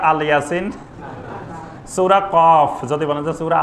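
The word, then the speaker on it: ق: সূরা ইয়াসিন যদি বলেন যে আল ইয়াসিন সূরা কফ যদি বলে সূরা আল কাফ যেটা আল্লাহ যেভাবে নাম রেখেছেন ঠিক সেই উচ্চারণে সঠিকভাবে বলতে হবে এটা কোরআনের আদব কোরআনের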